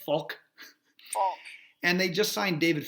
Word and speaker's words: Falk: are down to like Luke Falk so you say his name Faulk and they just signed